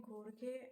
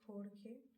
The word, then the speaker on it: Jorge: I did not want to say George because it was written originally in Italian, and I don't know, okay. They pronounce it Jorge, although I could be wrong. I don't know. It just sounds right. Jorge sounds right, okay.